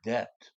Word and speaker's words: debt: 그 다음에 I'm in your debt. EBT, 이 bit은 B가 발음이 안 됩니다. 영어로 silent.